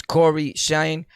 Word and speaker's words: CoryxKenshin: him his name is corey shine he don't like you to pronounce the x in his name is silent and i just remember